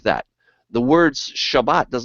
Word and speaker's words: Shabbat: All right, so we go from there to the Shabbat. All right, and I call it Shabbat because that's how you say it in Hebrew. All right, Sabbath is because of a Greek thing, but nevertheless, Sabbath or Shabbat, I'll say Shabbat.